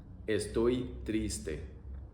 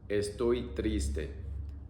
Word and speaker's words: estoy triste: Estoy triste. Estoy triste. E-oi-i-e. E-oi-i-e. Estoy triste. Estoy triste.